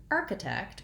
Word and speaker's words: architect: you i hope so in the word architect we have first syllable stress and that means that the arc syllable is stressed all of these words